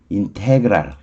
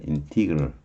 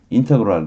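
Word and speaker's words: integral: 근데 발음은 원래 이게 인테그랄이 아니고 당연히 인티그럴이에요. 인티그럴. 강사님 맨 앞에 있을 거고요. 완전 인티그럴. 여기 I 발음이에요. 인테그럴 그래도 좋고 인테그럴. 인테는 정말 아닙니다.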